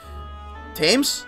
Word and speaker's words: Thames: along let's go in i think in tames in pronunciation tames so it is tames oh so the the part of it is not used it's just tames all right oh sorry